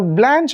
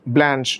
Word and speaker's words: Blanche: Now, Blanche, of course, is the American pronunciation, but if you look at the French pronunciation, it is actually Blanche.